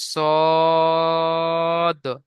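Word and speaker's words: ص: তারপরে দেখেন এই যে অক্ষরটি দেখতে পাচ্ছেন এটাকে পড়তে হবে সদ, সদ। মুখ গোল করে পড়তে হবে, কেন বলেন তো? এখানে স্টার চিহ্ন আছে, আপনাদের বলে দিয়েছে আগে, আপনাদের যেখানে আছে স্টার চিহ্ন আছে, এই জন্য এই অক্ষরটি উচ্চারণ করার সময় মুখ গোল হয়ে যাবে, পুরো অক্ষর বলা হয়। যেমন সদ, একটু বেশি করে টান দিতে হবে, কারণ তিন লেখা রয়েছে, তিন আলিফ টান হবে, সদ।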